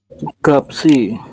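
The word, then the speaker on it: 값이: Oke berarti yang ini dibacanya gimana dibacanya menjadi gap gapsi betul gapsi seperti ini teman-teman ya Nah Anda membacanya seperti ini ya silakan lihat perbedaannya ya kalau yang gap ini empat huruf dibaca hanya tiga saja Oke hanya gap saja tetapi apabila ada tambahan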